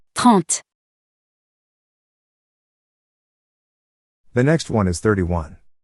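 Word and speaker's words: trente: the first one and in french we pronounce it taunt the next one is 31.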